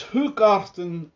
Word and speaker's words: Hoegaarden: a belgian beer called who garten you know i i studied up on how to pronounce it anyway it's who carton rosie it's a a